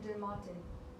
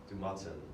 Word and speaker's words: du Matin: It's about the same pronunciation in English. Impression de Matin. Du Matin.